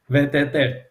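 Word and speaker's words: VTT: peter eulen principal scientist from vettel as we pronounce it in finland from volvo group we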